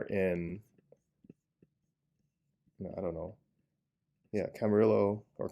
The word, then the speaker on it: Camarillo: but we are in i don't know yeah camarillo or camarillo lived in the la area for so long and i think i've just been straight up mispronouncing it according to wikipedia this is pronounced camarillo so um oops but this exit over here